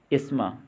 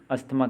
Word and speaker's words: asthma: ASTHMA, अस्थमा, इसको हम बोलेंगे एस्मा, ना कि अस्थमा कहेंगे।